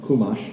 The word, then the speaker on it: Chumash: Your Chumash, fine, depending on your Yiddish pronunciation or not. But Chumash for our Sephardi listeners.